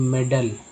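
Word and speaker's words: medal: MADEL में ए का उच्चारण अ के रूप में होता है, यानी मेडल, ठीक है।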